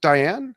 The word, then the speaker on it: Dian: an inspiration, So and her last name is pronounced Diane, is that correct? Deanne.